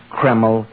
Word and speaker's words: Kreml: at any drug counter it's spelled k r ml keml hair tonic now Dr